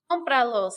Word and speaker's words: Cómpralos: Cómpralos, accent on the O.